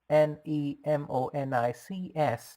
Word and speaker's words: mnemonics: It starts with M, Nemonics, the first letter M being silent when pronounced.